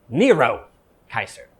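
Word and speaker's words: Nero Caesar: If you speak Latin, the way you say Nero is Nero Kaiser.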